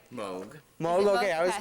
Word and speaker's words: Moog: and then you want to know how it's pronounced right Moog Moog okay I was correct I've been saying Moog for while everybody's still like Moog and yeah